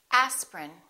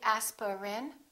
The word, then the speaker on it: aspirin: a list of words each one of these words contains one vowel one syllable which is not pronounced look at these words and repeat after me aspirin don't say asperin say aspirin evening evening